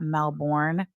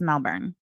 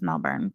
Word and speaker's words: Melbourne: keep pronouncing Melbourne, Florida, Melbourne. Floridians, at least in my recollection, being a native Floridian, they don't pronounce it Melbourne, Florida. It's Melbourne. It's just Melbourne, but I could be wrong.